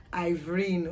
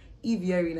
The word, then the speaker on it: Ivierin: So Ivierin is my middle name, and it's not pronounced Ivrine or Ivrine like some people have made the mistake of pronouncing. It is actually pronounced Ivierin, and it means blessing.